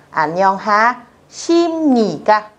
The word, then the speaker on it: 안녕하십니까: Viết là bờ nhưng đọc là M. Vì vậy từ này chúng ta sẽ đọc là 안녕하십니까 chứ không đọc là 십니까.